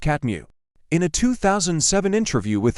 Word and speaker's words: CTMU: One of his signature works is his cognition-theoretic model of the universe, which he refers to as the CTMU and says, it's pronounced catmu.